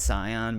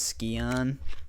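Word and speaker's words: Scion: I mean that's that's like s c i o n like you normally pronounce that Sion but for some reason everybody in the game pronounce it as skon they're are they they're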